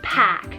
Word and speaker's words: Pac: helped by god then we have the name pack p-a-c on the girl's side guys this one's